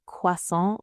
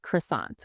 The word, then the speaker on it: croissant: Most Americans say croissant with a hard R and a hard T or croissant.